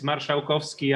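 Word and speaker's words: Marszałkowski: that i really tried okay it's polish it's marshawkovsky i know it's difficult to pronounce yeah yeah i i try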